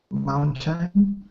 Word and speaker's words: mountain: himalayas and then mountain mountain yeah be aware too that that tea is almost swallowed so it's like mountain mountain mountain time yeah it's okay